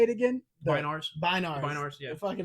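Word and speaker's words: Bynars: whatever was the Binars' names?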